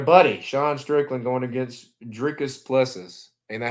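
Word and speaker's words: Dricus du Plessis: And then your buddy, Sean Strickland, going against Dricus Plessis. Ain't that how you say it? Dricus Duplessis.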